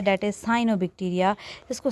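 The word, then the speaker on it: Cyanobacteria: So next हमारे पास जो important topic है दैट इज़ साइनोबक्टीरिया। इसको सियानोबक्टीरिया भी प्रोनाउंस करते हैं।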